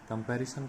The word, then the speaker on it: comparison: कंपैरिजन एस का उच्चारण होगा सा। तो बहुत सारे लोग इसका उच्चारण जा के रूप में करते हैं, लेकिन इसका उच्चारण जो है सा होगा।